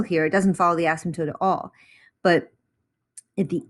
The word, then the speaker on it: asymptote: so an asymptote is that p is silent just asymptote is is like a